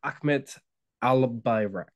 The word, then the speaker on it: Ahmet Albayrak: called sales Fellowship so my guest today is Ahmed al-birak am I pronouncing your name correctly yeah yeah correct brilliant